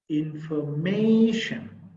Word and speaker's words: information: there are four syllables information in for may information there are four syllables as an example you see the third syllable is the stressed syllable here third syllable is